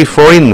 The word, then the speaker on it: foreign: 그 다음에 두 번째 I have 3 foreign friends. foreign 하면 외국의라는 형용사입니다. 이 G가 묵음이에요. foreign. 이도 소리 안 나요. foreign은 아니에요. foreign입니다.